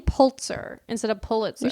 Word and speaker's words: Pulitzer: So she went to Joseph Pulitzer's newspaper, the New York World. I'm pretty sure Joseph Pulitzer is like Pulitzer of Prize. the Pulitzer Prize. Okay, you keep saying Pulitzer instead of Pulitzer.